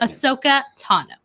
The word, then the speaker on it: Ahsoka Tano: Ahsoka Tano.